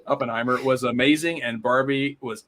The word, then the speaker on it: Oppenheimer: and Barbie last weekend oppenhower now I'm gonna say it right Oppenheimer was amazing and Barbie